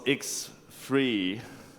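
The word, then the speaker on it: X3D: next up 2001 was X free that's how you pronounce it because it's free as in freedom or free beers and it's still XML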